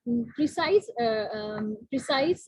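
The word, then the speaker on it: précis: किया था, एज अ प्रिसाइज writer, sorry this is नॉट प्रिसाइज, this is प्रीसे, ठीक है, एक प्रीसे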